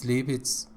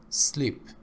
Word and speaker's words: sleep: you have this problem it's not as lipids sleep this is called consonant cluster in equations usually consonants